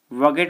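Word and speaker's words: bougette: वॉगेट बोलते हैं साथियों से वॉगेट, क्योंकि डी साइलेंट रहता है।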